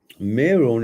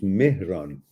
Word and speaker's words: Mehran: Meron is better than moron, but the actual name is Mehran. Mehran. Mehran. You wrote it pronounced correctly, but there is an H missing between E and R.